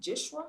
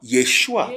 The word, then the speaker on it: Yeshua: yeah I heard so so is um actually pronounced as it Yeshua Yeshua there's no J Yeshua Yeshua which is a short form of yosua